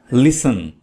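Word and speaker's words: listen: लिसन लिसन में T silent है। टी को नहीं पढ़ना है।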